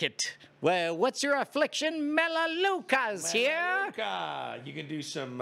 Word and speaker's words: Melaleuca: to me about melaleuca first of all we pronounce it melaleuca second of all sounds